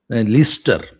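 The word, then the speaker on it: Leicester: बमिंगम [नाक से की जाने वाली आवाज़] से आ रहा था जब ग्लासगो लिस्टर स्पेलिंग है लिफेस्टर पढ़ते हैं लिस्टर जहां भी बी ई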